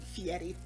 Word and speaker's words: Fieri: Fieri.